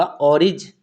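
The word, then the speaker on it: orange: तो गी जो जी है यहाँ पर उसका उच्चारण जा हुआ, तो यहाँ पे हुआ ऑरिज, ठीक है, क्या हुआ, ई नहीं लगाएंगे, ऑरिज, ठीक है।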